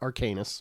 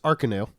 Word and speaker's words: Arcanus: It is not Arcanus, by the way. Oh. It is Arcanus.